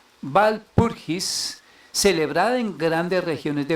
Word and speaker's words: Walpurgis: En la noche del 30 de abril, en la festividad de Walpurgis, la W en alemán pues se pronuncia como una V. Walpurgis, celebrada en grandes regiones